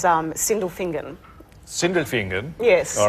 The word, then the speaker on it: Sindelfingen: Okay, because I actually thought it was single finger, but it's Sindelfingen.